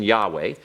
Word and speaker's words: Yahweh: And I'll put the pro- pronunciation here this way so we can see it, the proper pronunciation, Yahweh.